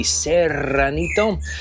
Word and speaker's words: Serranito: You have to be able to roll your R's with the Serranito.